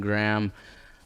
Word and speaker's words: Graham: So, yeah, and then Graham, like graham cracker.